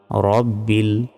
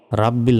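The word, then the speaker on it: رب: গলায় চাপ দিয়ে হা অক্ষরটা উচ্চারণ করতে হবে। আলহামদু। লিল্লাহি লাতে এক সেকেন্ড টান হবে লিল্লাহি রব্বিল রাব্বিল নয় রব্বিল আলামিন আলামিন আলহামদুলিল্লাহি রাব্বিল আলামিন আর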